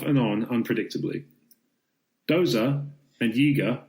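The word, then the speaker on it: Yeager: Doza and Yiga, rhymes with eager in case you've forgotten,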